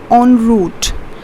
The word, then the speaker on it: en route: Though it's written en, but it's pronounced as en route.